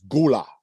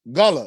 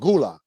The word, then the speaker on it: Gullah: pronounce it gula but the pr the proper pronunciation is gula so they came out with galagala island you remember that yes yes yes yes yes like i said like i said some people do pronounce it gullah so if you say gully you're not really